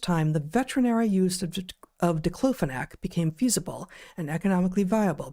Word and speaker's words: diclofenac: I don't know how to pronounce that. Dclofenac is right.